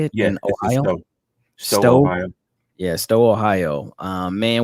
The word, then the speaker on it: Stowe: Stowe, Ohio.